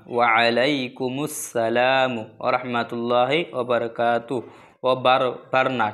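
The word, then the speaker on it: وعليكم السلام: ওয়ালাই আইন উচ্চার করবেন ওয়ালাইকুম আসসালাম না ওয়ালাইকুম আসসালাম না মানুষ এক ধরনের এক ধরনের দোয়াটি বলে থাকে কিন্তু না শুদ্ধ করে বলবেন দেখেন আলাই ঠিক আছে ওয়া আলাইকুমুস সালাম ওয়া আলাইকুমুস সালামু ওয়ারাহমাতুল্লাহি ওয়াবারাকাতুহু ওয়া বারবার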